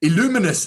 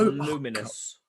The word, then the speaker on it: Luminous: Illuminous Legends event. Nope. What is it? No, Is that no? Luminous. Illuminous. No, No, it's just Oh, it's just luminous. Oh no, okay, fine, luminous.